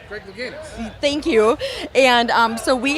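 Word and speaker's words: Louganis: Greg Luganis.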